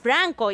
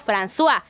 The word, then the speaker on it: François: mencionar y es que me dijeron que no se pronuncia franco y sino françois pero saben que no